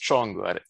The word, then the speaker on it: Csongor: So it's pronounced Csongor. It's Hungarian.